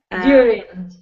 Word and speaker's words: during: During. During. Good. Think of during. It like there's a J in the word.